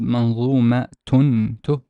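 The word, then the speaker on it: منظومة: One, it's basically a ta, and it's pronounced as such. If you notice here, we pronounce it as manzumatun, tun.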